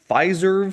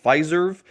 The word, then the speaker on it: Fiserv: some stock analysis for Fizerve stock. I guess that's how you say it. It sounds too much like Fizer to me. So I don't really like it, but I guess it's called Fizerve.